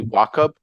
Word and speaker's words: Wachob: Really grateful and excited to have on the podcast today Harry Wachob. Am I pronouncing that correctly?